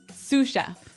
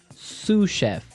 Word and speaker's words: sous chef: to our second word suf suf suf suf s o u s so the S is silent because it's like a French word yeah something like that